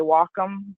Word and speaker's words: Wacom: other things you'll hear Nyna called these the Wacom and they're actually Japanese words that's why I say walk them because that's the correct pronunciation but you can call it whatever you